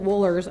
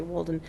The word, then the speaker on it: Wohlers: Wohlers, I always want to say Wolden.